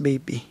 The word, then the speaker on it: BAPE: ah picture slide natin vape or sinasabi sa Google ang pronunciation niyan is baby pero as sa Filipino Ah ewan ko kung ako lang nagbabasa ng Bap or vape and tambay Trucker hot